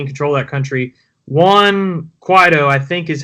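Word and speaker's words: Juan Guaidó: who is actually in control of that country, Juan Guaido, I think is how you say his name.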